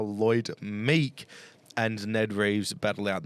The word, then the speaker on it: Lloyd Meek: drops off unfortunately how Lloyd milk Lloyd milk that's the best that's the best mispronunciation I've ever heard Lloyd milk and it's going to be interesting to see how Lloyd Meek ands Ned Reeves battle